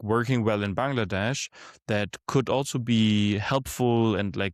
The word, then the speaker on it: Bangladesh: They, like, you pronounce it Bangladesh, but everybody, as an American, you're going to come in and be like Bangladesh.